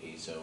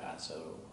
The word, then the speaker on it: azo: particular family of compounds called azo or aso prefer to pronounce both ways but it's a synthetic